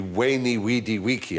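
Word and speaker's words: veni vidi vici: I was taught Latin we were taught to pronounce the v as a w so it would be wany weedy weaky I came I saw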